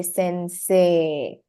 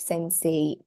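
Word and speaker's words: せんせい: So when you pronounce that word, you say sensei and not sensei.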